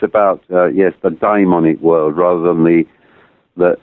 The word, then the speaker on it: daimonic: other world yes um make sure you pronounce it so it doesn't sound demonic right i yeah united it should be dymonic really but it is it's about uh yes the diamondic world rather than the